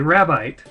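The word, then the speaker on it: Rabite: enemy it is a rabbit into the japanese i believe it's spelled the same way but it's pronounced rabbi ah don't hit me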